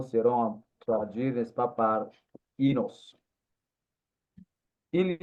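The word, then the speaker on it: οἶνος: Les mots les plus utilisés en grec, c'est inos, ou si vous voulez, oinos, mais la prononciation moderne, c'est inos.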